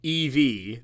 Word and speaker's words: Eevee: Eevee and Eevee are pronounced Eevee, the first two letters of the word evolution.